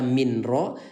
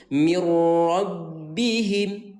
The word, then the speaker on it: mirrabbihim: Artinya yang tadi dibaca min ro, sekarang ubah menjadi mirro ya. Dan suara ro ini tidak boleh terbaca tahan ya. Kita bacanya dengan lebur, bilang mirrabbihim.